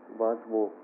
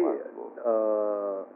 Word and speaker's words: Waswo: Waswo. It's pretty... Waswo. How do you say? Tongue twister? Waswo.